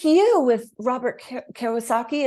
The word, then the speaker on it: Kiyosaki: you're frustrated, and then the right person, the right idea, the right Well, like you with Robert Kiyosaki, is that how you pronounce his last Kiyosaki.